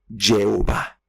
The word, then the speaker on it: Jehová: En algunas otras denominaciones se le dice Yahweh, en otras pues se le dice Jehová o también una muy conocida Jehová.